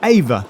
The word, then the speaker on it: AIVR: But then I want to know about AVA. That's spelled AIVR.